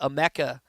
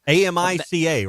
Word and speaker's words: Amica: We are gonna be live from the Emeka Mutual Pavilion. Did I say it right? I think that's right. Okay. AMICA, right? And that and I spelled it out UH-ME-CA.